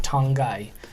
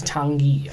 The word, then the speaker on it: Tanguy: When we did our transfer videos, I was pronouncing it Tongai, but I think it's Tanguy on Ndombele.